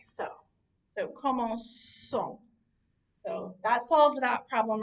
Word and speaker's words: commençons: So every form of that except that new has that soft C sound, but because of the O coming after the C, that suddenly makes that into a hard C, and it makes you